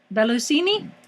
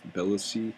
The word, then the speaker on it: Bellucci: Bellusini? Bellucci.